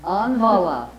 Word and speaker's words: Anvala: Anvala, with the accent on the first syllable.